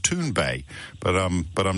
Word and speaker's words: Thunberg: I'm told by a Swedish correspondent is correctly pronounced tun Bay but um but I'm not Swedish so we'll